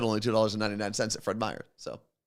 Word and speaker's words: Fred Meyer: said only $2.99 at Fred Meers so is it Fred Meers is it plural Fred Meyer oh I said it right okay see this is